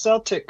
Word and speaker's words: Celtic: That's how it's pronounced. Celtic.